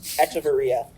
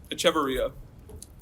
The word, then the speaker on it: Echeverria: Echeverria. Nope. Echeverria. Echeverria.